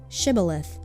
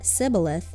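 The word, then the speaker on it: שִׁבֹּלֶת: If he replied no, they said all right, say shibilith. And if he said sibilith because he cannot pronounce the word correctly, they seized him and killed him at the fords of the Jordan.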